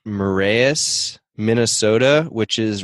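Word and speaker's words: Marais: I am in Grand, I believe it's pronounced Marias, Minnesota, which is right on Lake Superior.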